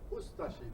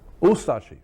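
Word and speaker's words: Ustaše: We pronounce it Ustashi. We pronounce the U and de-emphasize the ashi. Ustashi.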